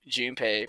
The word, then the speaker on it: Junpei: to that I say I press his name June pay but when I yet that pronunciation her nickname gets a bit weird cousin